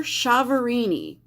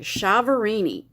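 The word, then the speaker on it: Chiaverini: commentator called her jennifer chavorini so that's how i'm going to pronounce it because that's how the news guy pronounced it chavorini and this was her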